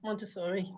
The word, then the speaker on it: Montessori: So how do you say it? Montessori? Yeah, Montessori. I've always pronounced it wrong.